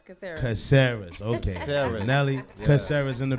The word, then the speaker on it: Caceres: Caceres. Caceres. Okay. Caceres.